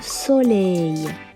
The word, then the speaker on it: soleil: Lei comme dans appareil et c'est le son ei qui dérange ici. On ajoute l devant et ça donne lei. Alors on prononce ensemble soleil.